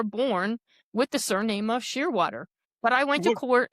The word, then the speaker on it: Shearwater: So I came up with the idea of Shearwater for a surname. And I thought, No one could go wrong with that. It's pronounced exactly the way it's spelled.